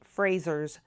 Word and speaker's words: Fraser: So I'm going to say it the Scottish way so that you can say it correctly when you're in Scotland.